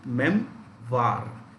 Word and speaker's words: memoir: future is the memoir how do you pronounce this memoir you can say best is mem var it's a collection memories